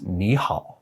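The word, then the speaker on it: 你好: a fairly simple rule when there are two third tones in a row the first one becomes a second tone it would be really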